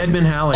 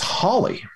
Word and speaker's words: Halley: Edmund Halley.